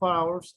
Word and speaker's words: hours: La pronunciación es hours. Hours en el sonido se oye como una vocal, ¿verdad?